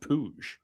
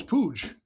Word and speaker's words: Puig: I I I I'd go with the What about Puig? Nah. Yeah, well it's actually pronounced Puig. It's Puig. Like Yeah, that's like a pig roast. Like a like pig pig with a U.